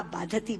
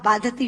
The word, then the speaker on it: बाधते: मुंह से बोला हुआ बाधती शब्द कष्ट दे रहा है, क्योंकि बाधती शब्द का अशुद्ध उच्चारण आपने किया है। ये शब्द बाधते होना चाहिए।